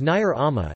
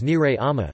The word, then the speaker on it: nire ama: pronouncing Nair Ama, my mom, as Nair Ama, instead of as Nire Ama.